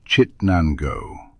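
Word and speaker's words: Chittenango: It's pronounced Chit Nango.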